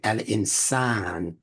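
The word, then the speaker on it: الإنسان: for pronunciation sake and excuse me to be pronounced Al insan don't say Al insan say Al insan because that vowel elongation is a part of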